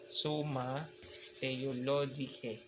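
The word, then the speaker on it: Summa Theologica: lohika Parang ganon sa sa Latin iba ang dulo ay e a e pag binasa suma Theologica parang ganan y ang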